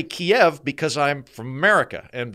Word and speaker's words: Kyiv: last week is there's this now distinction between Kyiv and Kiev. Oh, Kyiv we went to that fire. The Russian word for the capital of Ukraine, Kyiv being the Ukrainian capital. And my position is I say Kyiv because I'm from America.